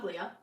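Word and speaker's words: tovaglia: Familia no it says toaga toia say Familia the g is silent you don't know your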